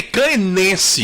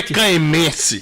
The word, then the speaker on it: caenense: Tanto que quem nasce em Caém é caenense. Exatamente. Não é caemense.